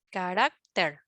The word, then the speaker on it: carácter: susceptibles bueno resulta que la palabra carácter en singular es a ver liana carácter penúltima sílaba su acentuación está en la penúltima sílaba pero cuando se pluralista ya ya no pronunciamos de la misma manera verdad o sea la sílaba tónica ya no ya no es rack sí no por lo tanto en plural la forma correcta es caracteres y en singular carácter cambia el cambia la sílaba tónica los especímenes hallados en